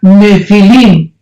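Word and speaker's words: nephil: y pH intermedia nepil se pronuncia nefil en el original hebreo esta palabra en su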